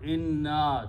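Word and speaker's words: إِنَّ: They try to stretch the word inna, that changes the meaning. So you make a short inna there. Just pronounce the fataha, don't stretch out, otherwise the meaning will change.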